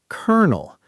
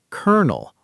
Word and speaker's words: colonel: Next, colonel. This one surprises everyone the first time they hear it because it's pronounced colonel, almost like the word kernel, as in a kernel of corn.